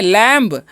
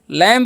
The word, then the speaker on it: lamb: इसे हम क्या पढ़ेंगे, लैम्ब। लैम्ब नहीं, इसे हम पढ़ेंगे लैम। क्या पढ़ेंगे, इसे हम लोग पढ़ेंगे लैम, ठीक है। और बी जो यहाँ पर साइलेंट है, तो इसका भी आपको ध्यान रखना है।